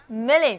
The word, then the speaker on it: million: 是 1000 乘以 1000，所以呢，million 就是百万。